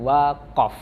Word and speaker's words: waqaf: membahas tentang memahami pengertian waqaf cara membacanya bukan wakaf tapi waqaf waqaf hai oke pengertian